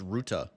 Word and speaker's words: Ruta: Oh, it's pronounced Ruta. Why have I been saying Ruta this entire time?